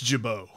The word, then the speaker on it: Gibault: Did I say it right, Gibault? I think it's Gibault. Okay, there you go. That just shows you all those years of taking French and living in a French-speaking country. It's Gibault!